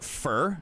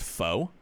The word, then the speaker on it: pho: But it's actually pronounced fur. It's not pronounced pho. It's pronounced fur.